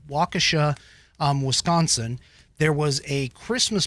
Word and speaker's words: Waukesha: in Waukesha, I believe this is the correct pronunciation, Waukesha, Wisconsin.